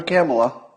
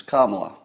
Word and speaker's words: Kamala: news joe biden picked camalleris don't call her camelot no no no she's not camelot she's kamala we must all learn to pronounce it properly it's not kamala it's not